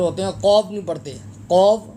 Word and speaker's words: قاف: ہیں، قاف نہیں پڑھتے۔ قاف زبان کی جڑ جب تالو کے ساتھ لگے گی تو انشاءاللہ آپ کا بہترین طریقے سے یہ تلفظ ٹھیک ہو جائے گا۔ قاف قاف، قاف لام پیش